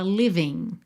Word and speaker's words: living: No caso, o G dessa terminação ING não é pronunciado. A gente fala living, ok?